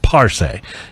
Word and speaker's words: Parce: It's Parce, emphasis on the first syllable. Parce rum.